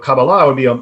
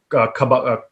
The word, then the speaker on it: Kabbalah: In Hebrew, typically the stress is put on the last syllable. So Kabbalah would be a more Hebrew style pronunciation. Okay. But some people say Kabbalah.